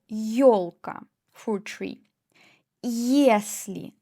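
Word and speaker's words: если: For example yolka yolka ye plus o yolka for tree yesli ye plus e yesli if yad yad ye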